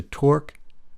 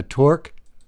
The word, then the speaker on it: Torx: What you will need is a Torx, and that's spelled T-O-R-X, number 5 screwdriver, and a small Phillips 3.0 screwdriver.